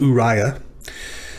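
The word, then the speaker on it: אוריה: The aleph and the shurek make the first syllable, u. The reish, the hirek, and the yod make a second syllable, because remember, the yod is not a begad kafat consonant, so that must be a dagesh forte. So that first of the doubled yods closes the syllable ri, and then finally it starts the syllable ya. U-ri-ya.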